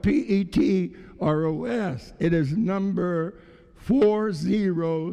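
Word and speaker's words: πέτρος: art peter the word peter in the greek is spelled p-e-t-r-o-s it is number four zero seven four and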